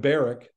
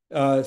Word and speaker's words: Barak: And some people call him Barak. I think I might like that pronunciation better, but I don't think it's accurate. I think it's Barak. Son of Adoniram, from Kadesh